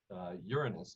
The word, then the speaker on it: Uranus: in other words um uranus and we pronounce it that way to cut down on jokes uranus is in a uh